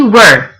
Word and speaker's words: were: right now yesterday we were working we were make sure you pronounce that properly it's not we're like in a question its word another example